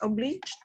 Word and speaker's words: obliged: Compensation, and that would be Still, how to pronounce obliged?